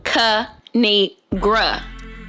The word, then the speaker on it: Kinigra: It's pronounced Kinigra. Now subscribe.